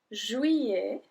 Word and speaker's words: juillet: Juillet, juillet. So remember, when there's a double L, we don't pronounce the double L.